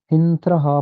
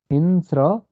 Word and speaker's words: हिंस्र: इस पद का उच्चारण ध्यान से देखिए, हिंस्र पशवः। क के पैर में यहाँ र लगा है, तो हिंस्र पशवः।